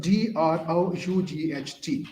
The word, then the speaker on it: drought: your comments I'm going to tell you the pronunciation of d r o u g h t drought drought drought the pronunciation is drought g